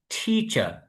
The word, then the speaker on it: teacher: তাহলে উচ্চারণটা কি হবে? টিচার।